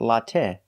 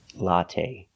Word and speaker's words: latte: we don't say latte the last syllable is the long a it's not stressed but we use the long a like say and pay latte make a long sound not the short latte but the long a latte the first syllable a